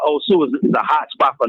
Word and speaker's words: Osu: So it's an area called Osu, and it's spelled like Ohio State, OSU.